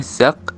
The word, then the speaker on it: zak: Contoh kata bahasa Belanda zak kantong, diucapkan zak dengan huruf K velar tidak bersuara.